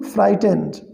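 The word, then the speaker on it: frightened: They became फ्राइटेंड, इसे क्या पढ़ेंगे, फ्राइटेंड। इसमें GH साइलेंट है।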